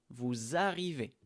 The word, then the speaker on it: vous arrivez: Ici, le S, on fait la liaison. Vous arrivez.